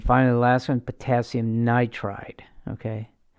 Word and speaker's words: nitride: so if he's like nitrogen isn't gonna be nitrogen eyed it'll be nitride okay uh you don't